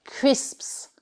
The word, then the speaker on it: crisps: Donc il faut vraiment dire les deux S, crisps, crisps, et ça fait vraiment pratiquement comme deux syllabes en fait, crisps.